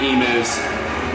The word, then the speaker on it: emus: the time, playing with the emus, raising the emus. Is it, am I pronouncing that correctly? Is it? Yes, emus.